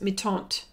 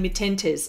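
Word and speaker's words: Mi-Teintes: on me taunt actually that's how that's how you say it folks meet aunt I've been reprimanded for saying meet enters okay that's why I'm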